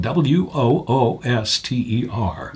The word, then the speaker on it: Wooster: And that's spelled w o o s t e r. And not like Worcester, Mass. it's said the exact same way and most people call it Wooster, which and I think